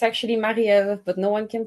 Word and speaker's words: Marie-Ève: T boom my name is Mel it's actually marel but no one can pronounce that so now I go by